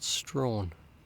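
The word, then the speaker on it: Strahan: we ventured into a town called Strawn not spelled phonetically and in that town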